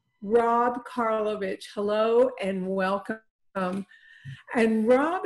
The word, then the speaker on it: Karlovich: is working on it and i'm going to pronounce his name correctly i'm i'm looking down at rob karlovich rob karlovich hello and welcome and rob is a mechanical